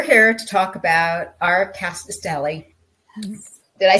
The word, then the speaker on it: Rkatsiteli: um so we're here to talk about our cast Deli did I say it right you did you